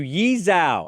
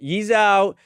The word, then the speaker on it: Yi Zhou: Jeremy Rena has just fired off a cease and assist to Yezhao, I believe that's pronounced um Yizho.